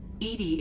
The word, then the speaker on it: EDI: is a jar why are you named Edie Edy is the fenetic pronunciation of e d that is an acronym